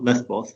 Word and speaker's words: Lesbos: the moira camp in lesvos or lesbos depending on how you pronounce it there's an outbreak